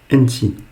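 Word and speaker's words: أنتِ: Donc, pour une fille, tu, on va dire enti. Enti. Donc, vous voyez bien que c'est comme au masculin, sauf qu'à la fin, on finit par un i. Enti. Et enti est toujours composé de 3 lettres. Elif, noun et le ta.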